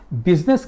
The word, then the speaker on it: business: बिजनेस की आप spelling देखिए, BUSI, बिजनेस। यू का मतलब द पीपल, आप। आई साइलेंट है, बिजनेस में आई नहीं चलता, मैं नहीं चलता।